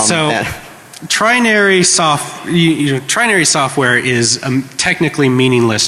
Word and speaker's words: Trinary: It's T-R-I-N-A-R-Y. Trinary, like 3 naries. All right, so trinary software is a technically